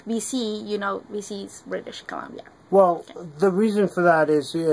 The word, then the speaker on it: British Columbia: So how do you pronounce it? British Columbia.